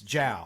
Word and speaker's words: Zhao: me Chloe J Chloe Chow Chloe Chow she's British spell with a z but it's Jia it's j it's spells